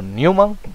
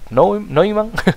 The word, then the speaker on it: Neumann: Von Neumann, no Newman, Neumann.